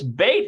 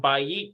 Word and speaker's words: בית: And notice this bait here is remember that it changes from bayit to bait.